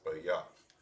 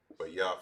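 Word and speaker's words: בית: House in the Hebrew, it is pronounced as bayaf.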